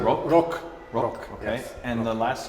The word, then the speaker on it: Rok: Rok, okay. yes. And the last name? Dežman. How do you spell that?